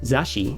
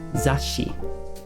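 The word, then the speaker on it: 雑誌: somewhere right here okay so it's not zashi it's zashi okay magazine and we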